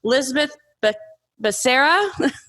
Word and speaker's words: Lizbeth Becerra: We also have Lizbeth Becerra. I'm sorry, Lizbeth, I just mispronounced your name.